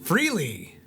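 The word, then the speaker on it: Frehley: doing great keep reading oh how do you pronounce Ace Ace's last name freely Ace Freely chandel his space Ace Persona and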